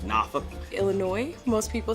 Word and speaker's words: Norfolk: People often mispronounce Boise. Norfolk, Virginia, like Norfolk.